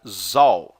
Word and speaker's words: Zahl: Esse Z aqui é em alemão e significa Zahl, assim.